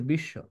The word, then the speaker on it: বিশ্ব: তোমরা এবার করো, স্বাধীন কি হবে, বিশ্ব কি হবে, তোমরা নিজেরাই করো, পারবা এবার। শুরুতে ফলা থাকলে উচ্চারণ হবে না, আর শেষে বা মাঝে থাকলে দ্বিত্ব বা দুইবার হবে।